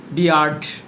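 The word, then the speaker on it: beer: যেমন আমরা বলতে পারি হি হ্যাজ গট a weird বিয়ার্ড মানে তার একটা অদ্ভুত দাড়ি আছে। উইয়ার্ড এর সঠিক উচ্চারণ হচ্ছে উইয়ার্ড আর বিয়ার্ড এর সঠিক উচ্চারণ হচ্ছে বিয়ার্ড।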